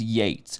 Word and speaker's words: Yeats: So he says it's Yeats as the poet. Yes. But from our understanding, and I had a hunch going into this, that it's Yeats, right? And then we looked it up. It is Yeats.